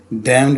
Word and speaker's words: Damned: judgement race इसे बेटा यह जो एन है ना यह वाला यह जो है यह साइलेंट है इसको नहीं पढ़ना यह डैम पढ़ना से ठीक हो गया